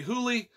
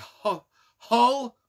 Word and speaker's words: Hole: Detective Harry Hole from Norway. I pronounce it Harry Hole. Some say Harry Hooley. Some say Harry Hull. Like H-U-L-L. Some say Harry Hool. It's Harry Hull to me.